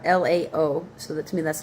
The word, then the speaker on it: Laomer: uh kings, these Kedor Laomer. Laomer Laomer Laomer K E D O R L A O, so that to me that's Lao, right? Kedor Laomer. M E R.